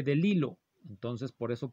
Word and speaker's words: DeLillo: El primer apellido se escribe Bellido, pero en alguna ocasión, me acuerdo mucho de eso, yo dije el nombre Don Delilo como Don Delillo y alguien me corrigió, se dice Delilo.